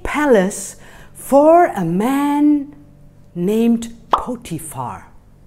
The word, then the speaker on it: Potiphar: And I ended up working in a big palace for a man named Potiphar. It's kind of a hard name to pronounce, right? Can you repeat for me his name? Potiphar.